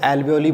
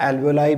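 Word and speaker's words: alveoli: ठीक है, और उन बैलून लाइक स्ट्रक्चर्स को हम लोग एल्वियोली बोलते हैं। ठीक है, या एल्वियोलाई भी जो प्रोनाउंस किया जा सकता है, तो दोनों में से आप जो मर्जी इसका प्रोनाउंसिएशन कर सकते हो।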